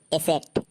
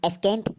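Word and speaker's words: ascent: तो उदाहरण के लिए एसेट तो ए एस सी ई एन टी इसको हम एस् केंट नहीं पढ़ेंगे क्योंकि रूल क्या बोलता है एस के बाद सी साइलेंट होता है तो इसको हम पढ़ेंगे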